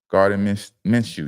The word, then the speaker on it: Gardner Minshew: Gardner Minshew, yeah.